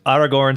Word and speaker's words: Aragorn: aloud because I'm very deliberate about pronouncing you know Aragorn is outer go and kind of having a little role of the are in there and so remember it's out whatever it's Aragorn son of Arathorn it's like our galore